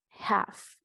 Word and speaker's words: half: Half.